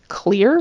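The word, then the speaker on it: Xlear: can be pretty great the brand name is pronounced clear but it's spelled XLE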